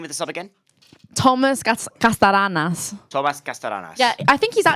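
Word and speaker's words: Kastanaras: Thomas Castaranas. Castaranas. Do you want me to just message just it to you? it. Okay, Spell it to me. Kastanas.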